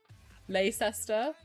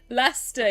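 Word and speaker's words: Leicester: Lester, yeah, you're right, Blue. That's how you say it, Lester.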